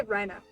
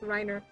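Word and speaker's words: Reiner: They say Rhina, but his name is spelled like Riner.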